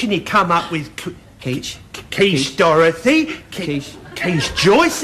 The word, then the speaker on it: quiche: My quitches. Quitches? No, Elmo, that's pronounced quiche. You sure? Yes, French.